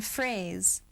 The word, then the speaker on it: phrase: PH says f in phrase. What the diagraph ph says in phrase, right? It says f phrase.